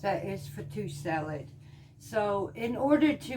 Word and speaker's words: fattoush: tonight and I'm making what's called a Mediterranean fattoush the only way I could pronounce that is fatou salad so in order to make this though